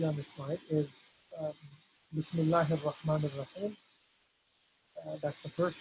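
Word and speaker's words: بسم الله: So there's good news, mashallah, is that there's nothing special going on as far as having to pronounce any kind of ayn or ha or anything special. We're simply saying Bismillahi.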